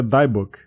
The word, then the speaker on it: Dybbuk: caixa aí chamado de deadbook eu a pronúncia em inglês é daebook e lá nesse site